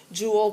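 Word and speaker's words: joule: chemistry quite a bit Jewel pronounced like a jewel like a gemstone or something it's named after a guy whose last name was Jewel um another unit that's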